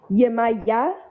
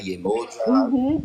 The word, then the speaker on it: Yemaya: And that pronunciation too, like Yemaya, or you'll hear some Afro Latinos like in Puerto Rico and Cuba say Yemaya. Yemaya, Yemoja.